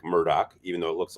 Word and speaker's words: Murdaugh: said the last name even though it looks like Murdo is pronounced Murdoch so I guess if